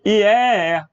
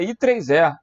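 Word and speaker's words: IEEE: Eu li IEE. Que droga. A pronúncia aí é I3E.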